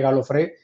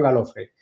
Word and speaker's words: Galofré: Lo que pasa es que en Colombia mi apellido, en lugar de con acento en la E, Galofré, se quedó en Galofré.